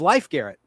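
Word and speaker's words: Leif Garrett: Yeah, people think his name was pronounced Life Garrett. It was Life Garrett, like the game of life.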